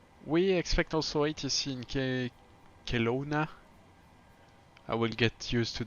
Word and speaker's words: Kelowna: Stream and we we expect also ATC in Kelowna I will get used to the pronunciation very slowly Kelowna yeah that's correct um